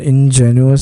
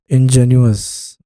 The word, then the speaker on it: ingenuous: inous is something and ingenuous is something I gu how is it pronounced though engine ous okay ingenuous not ingenious ingenuous ingenuous is uh